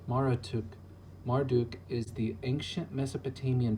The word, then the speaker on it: Marduk: the origins of a god pronounced Mara took Marduk is the ancient